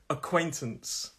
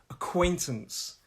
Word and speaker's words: acquaintance: them well okay acquaintance stress is on that second syllable acquaintance acquaintance listen to my pronunciation quote acquaintance so it's like a